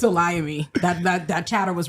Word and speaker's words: Olayemi: up too and it's it's a Liam me that that that chatter was right that time